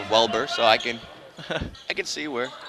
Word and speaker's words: Welber: Well, people don't like to, it's spelled out W-E-L-B-E-R, so it's like well and burr. A lot of times you go to the doctor's office, it's Weber or Wilbur.